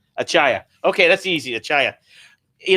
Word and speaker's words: Achaya: pretty much on your own how would you pronounce it it's achaya achaya okay that's easy achaya you know uh it's